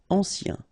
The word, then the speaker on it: ancien: accidentel vivant final pronounced vivant ancien remember a nen ancien en colère accent grave